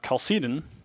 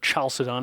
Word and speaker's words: Chalcedon: the Council of uh calcitin or chalcedon however you want to pronounce it uh the Tome of